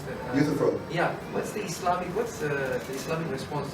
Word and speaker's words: Euthyphro: How do you pronounce that? Euthyphro.